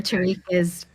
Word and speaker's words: Tariq: Well, I think it has many pronunciations, so there you Tarek go. or Tariq it's fine.